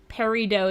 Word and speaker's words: peridot: Peridot is how I hear most folks pronounce it. Okay, I'm glad that I wasn't losing my mind with that instinct. Used to work in the jewelry industry. Pronouncing the T could be a regional thing.